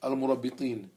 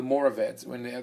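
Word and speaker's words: Almoravids: There were two invasions, which came from Morocco, the Al-Muwahhidin and Al-Murabitin, or the Mowaheds and the Moravids, as they are pronounced in English.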